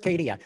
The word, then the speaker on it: CADIA: inclusion and advancement i i think you pronounce acadia the the acronym for it kadia um but what i